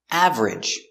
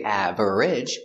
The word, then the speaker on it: average: Average. We don't say average. We push it together. Two syllables.